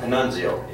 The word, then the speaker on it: Panunzio: Just to speak about Ben a little bit, Ben Panunzio actually is the pronunciation, but Ben came to us from Masco